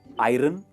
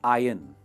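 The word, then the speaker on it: iron: आयरन नहीं, इसे हम कहते हैं आयन। आयन, वो ON पे आपको फोकस नहीं करना है, इसकी प्रोनाउंसिएशन होगी आयन, राइट?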